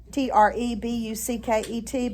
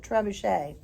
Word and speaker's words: trebuchet: Oh, by the way, trebuchet is spelled like tree bucket, Trebucket, but it's a French word, so you pronounce it trebuchet.